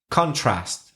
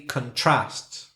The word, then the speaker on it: contrast: If it's a noun, I'm saying contrast. And if it's a verb, probably contrast.